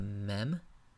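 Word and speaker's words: מם: English L la mid the next letter is a mem pronounced like English M mem the differentiating characteristic of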